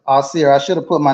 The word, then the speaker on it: Ausere: Did I say it right? Asar? Asir. Asir. What's the difference Yeah. between Asir and Asar? That almost sound the same, man. Yeah, it sounds similar, but it's Asir.